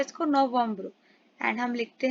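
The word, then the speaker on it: novembre: नवंबर को हम फ्रेंच में लिखते हैं यहां प्रोनाउंस कैसे करते हैं इसको नवंबर एंड हम लिखते हैं एन ओ वी ई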